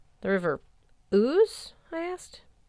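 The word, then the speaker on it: Ouse: The river ooze. I asked. O. TJ corrected, breaking into a grin. It rhymes with moose.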